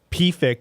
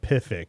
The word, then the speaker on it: PFIC: it today we want to talk about pfix pfix is the correct way to pronounce this horrible thing not pivx which which is just i think that makes